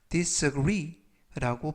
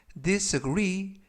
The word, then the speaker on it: disagree: disagree disagree라고 발음하시면 되겠고요 강세는 끝부분에 있는 알파벳 2의 가 있 그래서 disagree라고 발음하시면 되겠고요 품사는 동사 뜻은 동의하지 않다라는 뜻을 가지고 있습니다 활용 문장 보시겠습니다 아 나는 disagree 동의하지 않는다 with your